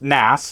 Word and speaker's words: NAS: NAS stands for network attached storage, and it's pronounced NAS and it rhymes with mass.